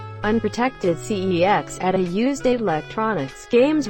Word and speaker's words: CeX: bathroom camera 3 unprotected cex at a used electronics games retailer whose name is pronounced as sex hide yo kids hide